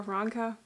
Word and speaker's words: Ranka: easier Choice today so it says ranga or Ranka I feel like it's pronounced with the rolling R Ranka is tired of